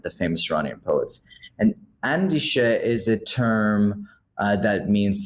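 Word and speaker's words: Andisheh: pronunciation because I totally guessed it the correct pronunciation is andish andish andish is um and I've been going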